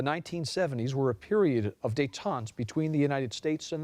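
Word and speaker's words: détente: from a Latin word are there any alternate pronunciations yes there are there is one day taau they day there's dayon and dayon dayon is the second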